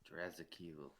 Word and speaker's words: Drazakiel: the last syllable, and the hyphen isn't where you think it should be. To me, like it's Draa, and then like the apostrophe Zakiel. Yeah. Drazakiel.